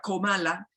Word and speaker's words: Kamala: la misma Kamala, que además dicen que se pronuncia Kamala Harris, no se ha enfrentado directamente al presidente